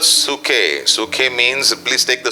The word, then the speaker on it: psuche: Number 2, दूसरा शब्द yeah, is the word called suke. Suke means, please take the spelling because it is pronounced in a different way.